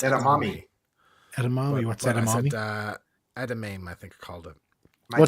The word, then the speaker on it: edamame: And Edam is my favorite. Say that again. Edam, is it Edam? No. I don't got know. slagged once for What is mispronouncing it? it. It's Edamame.